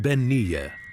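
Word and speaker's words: bean-nighe: The definitive version of this chilling figure is the Scottish bean pronounced benier.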